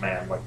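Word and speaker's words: Mahan: man really important man it's m-a-h-a-n but it's pronounced man um so anyway there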